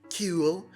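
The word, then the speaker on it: kewl: He says the word cool constantly, and in a way where the writers have to spell it K-E-W-L, so it's more like cool, and he has one of the most punchable faces in comics.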